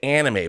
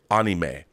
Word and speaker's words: anime: I know people say anime, but the actual Japanese pronunciation that I've always heard is anime.